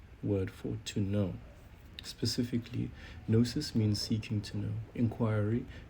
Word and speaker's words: gnosis: So the correct pronunciation is nosis is related to nosco which is the ancient Greek word for to know. Specifically, nosis means seeking to know, inquiry, methods of knowing, investigation, and even acquaintance with someone.